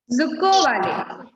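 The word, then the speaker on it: Dzükou Valley: Yes, that is Zuccovali. D is silent. നമ്മൾ D അവിടെ എഴുതിയിട്ടുണ്ടെങ്കിലും D എന്ന വേർഡ് നമ്മൾ വായിക്കില്ല. D is silent there. Then we can say it as Zuccovali.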